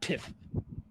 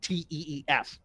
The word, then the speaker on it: Teef: Grog Iron Tiff. And no, I didn't pronounce that. It's Teef.